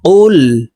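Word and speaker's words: قُلْ: কুল কুল আমরা অনেকেই কুল বলে থাকি জিহ্বার গোড়া থেকে একটু আগে বাড়াইয়া উচ্চারণ করি তো এটি হলো বড় কফ এ কফের উচ্চারণ জিহ্বার গোড়া তার বরাবর উপরের তালুর সঙ্গে লাগাইয়া উচ্চারণ করতে হবে তো এই কফটি জজমালা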